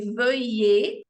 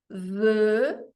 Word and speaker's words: veuillez: Então, quero só que vocês foquem um pouquinho na pronúncia desse veuillez. É uma mistura do E francês na parte 1 da palavra com o E de você na parte 2 da palavra. Então, veuillez, o E de você.